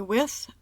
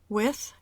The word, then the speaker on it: with: En el caso de with, ambas pronunciaciones son correctas. With con la TH sorda o with con la TH sonora.